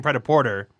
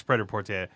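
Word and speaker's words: prêt-à-porter: word pred up so we were saying pret-a-porter but it's not a Forte yeah it's pretty port a it comes from French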